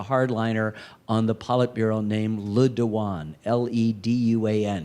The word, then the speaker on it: Le Duan: on the Politburo named Le Duan, L-E-D-U-A-N. He spells it for the president, which is actually pronounced Les One.